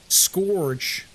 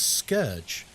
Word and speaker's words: scourge: Have you heard people say scourge? And I'm like, what the Why are you saying it like that? Scorge. But no, it's scourge.